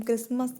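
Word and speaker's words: Christmas: फिर देख लेते हैं क्रिसमस में आपका जो मिट्टी है वह साइलेंट रहता है हम क्रिसमस कहते हैं जब इसको हिंदी में लिखते हैं तो आप कट्टर जो है वह कहीं भी नहीं आता है तो 30 झुक प्रॉन्स नहीं होता है कोड इनडायरेक्ट स्पीच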